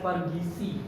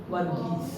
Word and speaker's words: Vergheese: Some they mispronounce it as Vergheese. No, my name is Vergheese. Vergheese. And that is in fact the English name George.